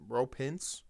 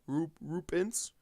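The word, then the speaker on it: Roope Hintz: Rope Hintz, is that how you say it? Roop Hintz. I know it's Hintz is the last name, Roop Hintz, but they come out total domination.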